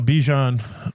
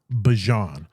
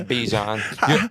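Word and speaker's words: Bijan: the man, the man definitely is um uh Bejian um at the running back position. Or is it Bjon? I think he he came out and said it's pronounced Bjon. I refuse to change it. It's Bjon.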